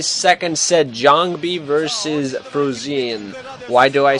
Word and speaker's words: Jangbi: So it's JangBi, not JangBi.